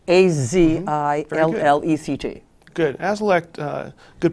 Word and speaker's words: Azilect: Azilect, A-Z-I-L-L-E-C-T. Good. Azilect, good pronunciation, is a new drug that's been out